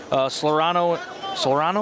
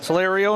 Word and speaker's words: Solerio: Solerano, is that how you say it? Solerano, there's no N. Solerio and Branham, 408.